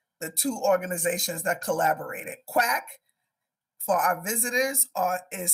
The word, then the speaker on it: QUAC: Quack, for our visitors, is spelled Q-U-A-C.